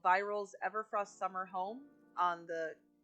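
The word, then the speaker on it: Vyrelle: name wrong this whole time I believe it's pronounced viral uh v y r e l l e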